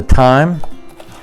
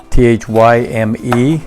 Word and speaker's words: thyme: end and then we've got the time t-h-y-m-e sometimes i pronounce it thyme which is incorrect then we also have